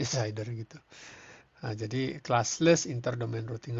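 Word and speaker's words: CIDR: itu kita memakai Saigon yiar bacanya shaider gitu jadi classless interdomain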